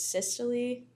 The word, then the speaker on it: systole: Yes, so contraction is also known as systole. I think that's how you say it.